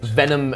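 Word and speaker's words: Venum: Venom. Uh, but not spelled like Venom. It's V E N U M.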